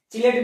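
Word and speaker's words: chelate: चिलेट भी कहा जाता है, किलेट भी कहा जाता है, अपना अपना प्रोनाउंसिएशन होता है, बट ज्यादा चिलेट ही फेमस है।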